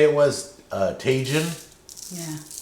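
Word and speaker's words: Tajín: Tajin? Yeah. Tajin, maybe? It rhymes with like Cajun, maybe?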